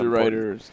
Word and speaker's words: Deruiter: And it's also the old not DeRiders territory. DeRiders or Shaners. I think DeRiders bought it later. The classic rivalry between Shaners and DeRiders. DeRiders. Spelled like DeRooters.